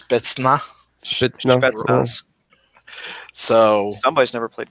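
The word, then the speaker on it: спецназ: If anyone wants to try to pronounce that, it's Spetsnaz.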